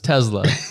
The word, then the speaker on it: Tesla: does and everyone else, you need that hard Z sound in there. So it's Tesla.